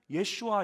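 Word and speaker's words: ישוע: 오직 예수님에게 있는 구원입니다 성경에서 예수라는 이름의 본래 발음이 히브리어로 구원을 임하는 예슈아 있니다 그래서 예수님이 바로 구원이시니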